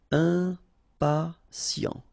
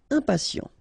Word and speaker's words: impatient: Okay, remember, final T not pronounced. And then you've got this T, I, and a vowel, so sien. Sien. Impatient. Impatient.